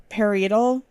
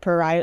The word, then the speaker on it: parietal: I don't know how to pronounce it. Paral. P A R I E T A L. I feel like I maybe misspelled that. Paral.